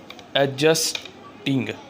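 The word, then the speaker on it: adjusting: एडजस्टिंग, एडजस्टिंग, D silent है, एडजस्टिंग, एडजस्टिंग आ जाएगा।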